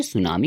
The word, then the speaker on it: tsunami: नाम है सुनामी तो यह जो सुनामी होता है इसका जो टी होता है वह साइलेंट होता है तो इसकी वजह से इसे हम सुनामी पढ़ते हैं तो इस चैप्टर